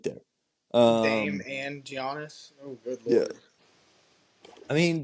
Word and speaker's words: Giannis: playmaker so you got Giannis or however you say his name I it's gianis just Giannis okay got he's a